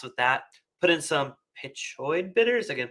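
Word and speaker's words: Peychaud's: Put in some pichoid bitters. Again, pronunciation peso bitters.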